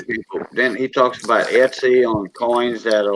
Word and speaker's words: Etsy: is that say it right let's see oh Etsy oh yeah Etsy it's something like eBay but yeah but he talks about eBay also um under certain people then he talks about Etsy on coins that are like ten thousand dollars